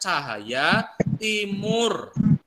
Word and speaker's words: Tjahaja Timoer: timuer oke batu dibacanya cahaya Timur Polres arah berarti Pusara tuh zaman dahulu oke dibaca uh TJ dibacanya C kalau ada j-batik dibacanya y pecah aja tadi dibacanya cahaya ya itu ejaan lama